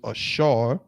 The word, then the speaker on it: Asher: What does Asher mean? And Asher, of course, in Hebrew is Ashar.